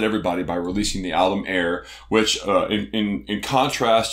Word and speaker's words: AIIR: want to pronounce that it's like air but with two eyes in the middle and the way that it's written of course last year salt confounded Everybody by releasing the Alum air which uh in in